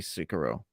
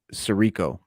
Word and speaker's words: Sirico: tony soprano talking about tony sicaro cicero wait i'm going to say his name right tony sirico uh yeah so he